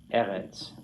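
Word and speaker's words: אֶרֶץ: here about how he highlights the non-final stressed syllable. Do you follow how that works? Okay. Another word right out of Genesis 1. Eretz.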